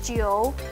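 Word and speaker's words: 九: The Chinese word for the number 9 is pronounced 9, which sounds similar to the 9, the Chinese words for alcohol.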